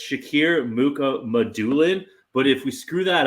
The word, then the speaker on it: Shakir Mukhamadullin: I would like to say though that JD sent me we have the pronunciation guide, and it's Shakir Mukhamadullin.